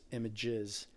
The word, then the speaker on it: Images: that came out, and their name was Images, S is silent, so both names pronounced the same.